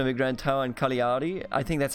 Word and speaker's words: Cagliari: it's a lien for because they're G in within a word is not the G that we have in German so I naturally tend to say Cagliari but apparently it's Carly